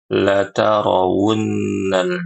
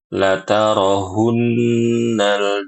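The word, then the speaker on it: لترون: Huruf wunnya itu sering diganti dengan huruf H. H besar ya. Latarunnal jahim. Dibaca dengan latarohunnal jahim. Tumma lataroahunnaha ainal yaqin.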